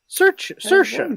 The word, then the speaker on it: Saoirse: Saoirse, so you pronounce it Saoirse.